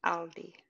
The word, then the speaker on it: Aldi: Audi and Aldi. So Aldi Okay. is a supermarket, and then Audi, because there's no L, is the car.